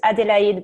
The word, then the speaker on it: Adélaïde: It's in French it's Adélaïde, but everyone calls me Ade.